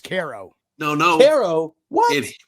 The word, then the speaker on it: Cairo: It's pronounced Cairo. No. Caro. What? Right here, it's pronounced Cairo.